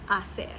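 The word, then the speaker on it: hacer: The F sound stayed in Italian and French far but in Spanish it softened into an H which is silent in the modern pronunciation. So while Spanish writes asser it sounds closer to asser.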